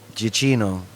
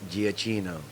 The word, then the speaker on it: Giacchino: Giacchino. Well, why is there two C's? Because it's Italian. I can't explain to you Italian. So you think it's Giacchino? Yes, That actually sounds... Giacchino.